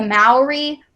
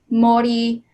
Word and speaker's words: Māori: So the lava people in particular, I've specifically went into, depending on how you pronounce it, it's a regional thing, the Maori Māori culture in New Zealand.